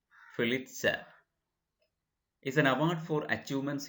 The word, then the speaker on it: Pulitzer: is a pulitzer prize you can pronounce it fill itself is an award for